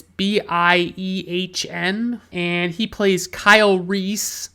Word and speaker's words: Biehn: I believe Bean is the correct way to pronounce his name. It's Biehn, and he plays Kyle Reese.